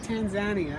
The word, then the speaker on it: Tanzania: okay yeah pronounce it i know i used to pronounce the same way as you but they pronounce it tanzania i'm like oh okay